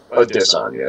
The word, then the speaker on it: Adesanya: Adesanya is actually how you pronounce it.